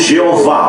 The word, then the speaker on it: Jeová: Sua palavra em hebraico é Jeová. Nós pronunciamos Jeová, ok?